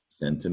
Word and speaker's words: cent: Centum is Latin for 100. That became the French word person, and C-E-N-T in French is pronounced cent, and that is the French word for 100.